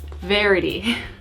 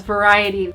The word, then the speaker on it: Verity: right first up is verity can we just talk about how the entire time I read this book I pronounced her name as variety and I think I